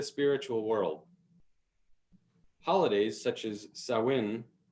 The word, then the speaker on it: Samhain: world holidays such as sawin which has a few different pronunciations throughout the gaelic world none of which are samhain is not only celebrated